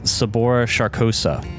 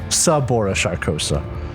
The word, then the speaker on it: Sabora Sharkosa: easier right uh you recognize this lady as sabora sharkosa the leader of the Gilded Gunners one of the can you spell that name s-a-b-o-r-a and then last name sharkosa s-h-a-r-k-o-s-a shabora sharkosa sabora sharkosa yeah she has this like bright gold pistol